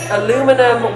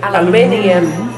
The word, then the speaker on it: aluminium: Everybody's favorite is aluminum. We say aluminium. Aluminium. Yeah. Yes. Yeah. Yes, they do love that. Wait, guy. what? Aluminium? Yeah. We added an extra eye.